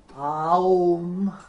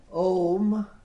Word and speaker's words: Om: So you don't pronounce it Aum like that. Вие не произнасяте Аум, You pronounce it Om.